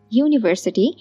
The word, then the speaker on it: university: n but our university university has a y sound so we use a do U is a